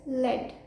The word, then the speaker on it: lead: fifth word is this one of the pronunciations of this word is lead which means a metal for example lead is a poisonous metal the second pronunciation of